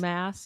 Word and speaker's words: Maas: Mass, yeah.